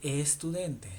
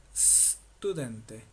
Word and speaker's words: studente: No cometas el error de decir estude. No, si te das cuenta acá no hay una e delante, no se dice estudente, se dice studente.